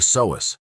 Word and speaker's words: psoas: It's called the psoas, pronounced s-o-a-s. This muscle is buried deep inside your core.